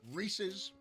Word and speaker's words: Reese's: Reese's peanut butter cups.